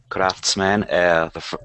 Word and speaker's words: craftsmen: Craftsmen, two syllables, and the first one is the stressed.